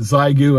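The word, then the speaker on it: Xiegu: From this point forward, I'm going to pronounce it Zygu, and I'm going to call that the official North Carolina pronunciation for Zygu radios.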